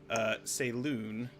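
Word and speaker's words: Selûne: goddess of the moon say loon I've just said that's the pronunciation based on the accent markings in her name and the feelings that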